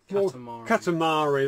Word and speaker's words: Katamari: Katamari, that's how you pronounce it, bloody Katamari.